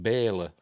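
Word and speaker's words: Bela: and there you go Bella Lugosi as Bella uh as they pronounce it Baylor um he's he's the uh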